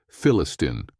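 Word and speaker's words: فلسطين: Due to the absence of the letter P in the Arabic alphabet, they pronounce the word Palestine as Philistine.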